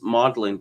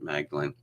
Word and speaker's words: Magdalen: They pronounce this Magdalen College at Cambridge. I assume the Americans pronounce it Magdalen.